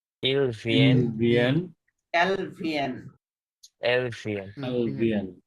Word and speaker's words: vient: ভিয়েন, শেষের ইএনটি সাইলেন্ট। সকল ভার্বের ইল প্লুরাল থেকে শেষে যদি ইএনটি আসে সেটা সাইলেন্ট থাকবে, সেটা রেগুলার হোক ইররেগুলার হোক।